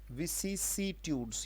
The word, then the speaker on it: vicissitudes: विसिसिट्यूड्स, ये उच्चारण है बेटा, है ना।